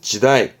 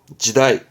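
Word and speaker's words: 時代: 대표적으로는 그렇죠 시간입니다 발음은 직강 지강 시대를 말하죠 발음은 지다이 지다이 전부 다 음독은 짐이다 그죠 지달 당이다 당시에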